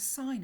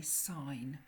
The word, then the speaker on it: sin: we call this the sine of an angle, and it's shortened to SIN. We never say sin, we always say sine. So even though it's written as sin, I would pronounce that as sine.